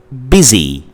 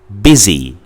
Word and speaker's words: busy: This vowel sound, this short vowel sound I, can also be represented by the letter U, like in the word busy, busy, b. It's short, and the word busy is spelled B-U-S-Y, so